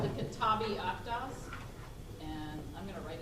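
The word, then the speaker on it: Kitáb-i-Aqdas: Kitabi Akdas. K-I-T-A-B-I-A-Q-D-A-S. I feel like I'm in a spelling bee. Kitabi Akdas.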